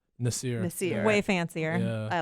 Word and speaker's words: Nasser: Spelled Nasser, pronounced Nasir.